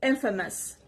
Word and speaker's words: infamous: the next word is Infamous Infamous this is on the first part Infamous it's an adjective and